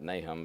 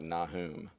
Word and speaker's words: Nahum: I've always pronounced it Nahum, but I'm told that it's pronounced more like Nahum.